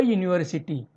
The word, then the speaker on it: university: A university. This word university begins with U. U is a vowel sound, but its pronunciation is like a consonant sound.